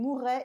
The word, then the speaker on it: mourrait: I really emphasize this double R to show you that it is a conditional.